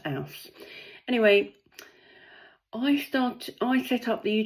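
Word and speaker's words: Els: It is spelled E-L-S, but it's pronounced Alce.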